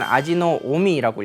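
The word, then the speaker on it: 阿知使主: 아지사주라고 기록을 많이 했습니다. 아지사주. 그래서 읽기는 아지노오미라고 읽어요.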